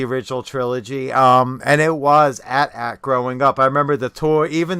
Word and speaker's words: AT-AT: they member on TV they called it an at-at they didn't call it an 8080 and at the same